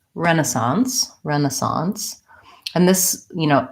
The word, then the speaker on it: Renaissance: question for the word Renaissance and incentive so Renaissance comes from the French and we change it a little bit from how they pronounce it so let's look at that word